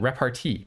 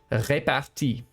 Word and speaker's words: repartie: someone who said that it's wrong of me to call it repartee because it's a word that is borrowed from French, and I'm pronouncing it too much like an English word. So from now on, I will be calling it repartie.